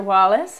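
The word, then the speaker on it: Wallice: Wallace, and you spelled it incorrectly. My name is spelled W-A-L-L-I-C-E. So your research skills maybe could use some improvement other than that. But think wall ice.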